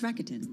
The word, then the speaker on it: Rakuten: Somebody's going to hook How do me you up with pronounce that. Isn't it Rakuten? It's Rakuten.